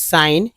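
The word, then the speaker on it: sign: इस दज बोले दिस साइन ठीक है दिस साइन इसमें जी साइलेंट समझिए दिस साइन या जी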